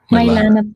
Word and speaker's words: Mylanah: pronounce? Mylanah. Mylanah po.